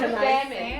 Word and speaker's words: salmon: It's salmon. It's salmon. The L is silent.